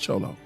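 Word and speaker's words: Xolo: dog i was talking about it's called it's pronounced cholo chase truth x oh yeah x-o we can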